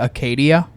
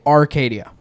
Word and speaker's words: Acadia: or dude even just saying like pronouncing something wrong like uh we have the GMC Acadia. No, people say Arcadia. There's no R in there. Mhm. Not a single R in that word.